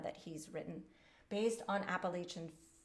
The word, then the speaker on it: Appalachian: he's written based on appalachian appalachian fiddle tunes and that's where i live i'm in the middle of appalachia i think that's how you say it in this part of the woods um and the sonata